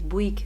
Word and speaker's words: Bouygues: Bouyegue y se pronuncia Bouygues. ¡Qué locura! So the cell phone company that I have, you spell it Bouygue, and how you pronounce it is Bouygues.